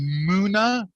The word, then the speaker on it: Muna: my question to you are we pronouncing your name correctly muna like it's like the moon that's right what a